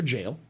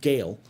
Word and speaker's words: Jale: right next question comes from Nova specifically for jail um but it they pronounced her name Gail so uh g a l e instead of